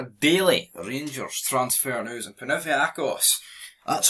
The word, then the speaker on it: Panathinaikos: And Panathinaikos, that's how you pronounce them, ready to sell Antonio Colak to Rangers, but they did reject an opening bid.